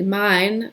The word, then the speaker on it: Main: what um mine mine it looks like main English but it's actually mine the name of the river mine so you can see